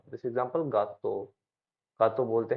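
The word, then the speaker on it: gatto: एक चीज ध्यान रखना, अगर जी के बाद में या तो ई आ गया या फिर आई आ गया, तो ये पढ़ा जाएगा जय। जैसे जैम, जाम। अगर जी के बाद में ई आ गया या आई आ गया तो ये पढ़ा जाएगा जाम, वरना अदरवाइज ये ग पढ़ा जाएगा।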